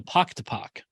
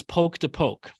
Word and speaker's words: poke to poke: And the correction was wrong, and it's poke to poke.